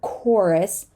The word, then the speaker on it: chorus: and moving on to the silent h in the CH sequence we often say right instead of the CH instead of CH or whatever so it is a chorus chorus not chorus chorus this is chaos